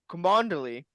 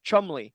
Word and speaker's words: Cholmondeley: The L, the first L, apparently silent, as well as the D in that name, apparently, and the N.